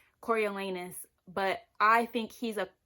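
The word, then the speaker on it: Coriolanus: Cornelius Snow, and I'm aware his name is pronounced Cory Elanus, but I think he's a corny corny, bitter, hateful, never going to find love man.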